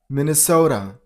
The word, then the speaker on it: Minnesota: So, the stress on the first syllable. So and the last it turns into this sound the duod Minnesota number 24 Mississippi stress on a t level